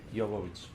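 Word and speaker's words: Jovich: it to you is try swapping J for Y and say like that Yovich.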